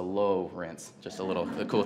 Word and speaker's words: Lowrance: started the Lawrence Cruisers it's spelled Lawrence but with an O so low rinse just a little a